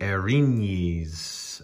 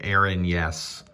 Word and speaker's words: Erinyes: from house of paint 203 bringing you the erins i had to look up how to say this because i've been pronouncing it aaron yes so this is a medium fiend who appears